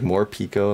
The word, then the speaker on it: Morpeko: It's like Morpeko, like more Pikachu.